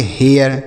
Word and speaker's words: hair: उसी तरीके से HAIR, इसे हम पढ़ेंगे हेयर। क्या पढ़ेंगे, हेयर। PAIR, P से प, AI का उच्चारण A के रूप में, यह हो गया पे, R से र लिखा है पेयर।